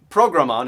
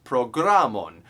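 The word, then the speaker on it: programon: esperanto learning where yeah it's not program on it's programmon you emphasize the second to last syllable of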